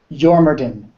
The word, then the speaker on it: Jormungandr: Jormungandr. A lot of the Dwarven words have a J that is sort of a Y sound.